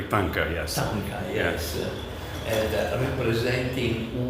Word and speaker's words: Thangka: I think I was outside explaining, and I think I pronounced it correctly. Thangka, yes.